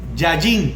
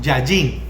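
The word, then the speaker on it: יין: Porque la raíz de esta palabra donde habla aquí de vino es la palabra hebrea yayin, con Y y acento en la A, yayin.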